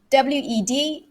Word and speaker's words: Wednesday: day of the week w-e-d-n-e-s-d-a-y this is actually two syllables it's not three wednesday wednesday right so it's when the first syllable right the stress is